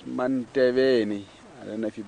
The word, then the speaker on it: Manteveni: It's Manteveni. I don't know if you'll be able to pronounce that, Kelly. Manteveni.